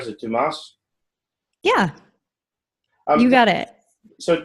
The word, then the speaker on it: Dumas: Am I pronouncing that right? Is it Dumas?